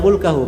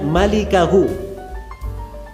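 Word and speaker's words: مالكه: cara baca yang benar itu bukan bacanya mulkahu memang mim lam Kaf ha tapi bukan mulkahu bacanya bacanya malikahu cara bacanya malikahu artinya pemilik wajah J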